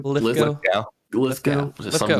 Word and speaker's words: Lithgow: Lithgow.